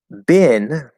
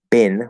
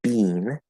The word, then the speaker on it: been: Been, which in American English is, most people pronounce that been with the second vowel sound. Canadian English, well, some Canadian English and British English pronounce it been with the first vowel